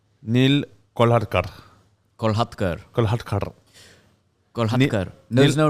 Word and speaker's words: Kolhatkar: And then when I was 21, my dad said it's actually pronounced Kolhatkar.